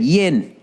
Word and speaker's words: yin: I didn't say yin and yang. I said yin. Y-I-N.